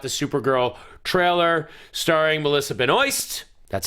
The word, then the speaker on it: Benoist: course we got the Supergirl trailer starring Melissa Ben oy that's how you say it it's Benoist it's not benois it's not Benoist now I